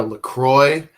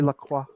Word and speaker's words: LaCroix: I'm drinking a LaCroix, which is a bit like an IPA, but with no alcohol in it.